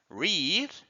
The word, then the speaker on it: read: in its base form read but in participle in past the pronunciation is like the color red so in this case